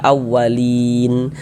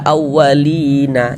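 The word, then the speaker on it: الأولين: Ini kalau kita berwakaf di huruf nun, kalau berhenti di huruf nun kita baca awalin. Jangan dibaca awalina, jangan.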